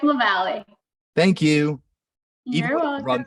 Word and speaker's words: Lavalle: I know we just did a run through of the pronunciation. I don't think I did. Tell me. It's Lavalle.